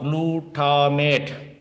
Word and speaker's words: glutamate: a note over there we call glutamate amino acid by the name called blue tar mate please spell it g l u t it